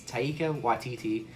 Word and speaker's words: Taika Waititi: We're trying new things, and the director, which I know I'm going to mispronounce, it's Taika Waititi.